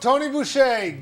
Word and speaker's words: Toni Boucher: the person for that Tony vé Google her the r is silent and uh you can